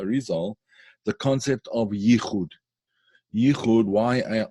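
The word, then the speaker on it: יחוד: Yichud, Y-I-C-H-U-D, I guess you would spell it. In Hebrew, Yud Chet Vav Dalet, Yichud.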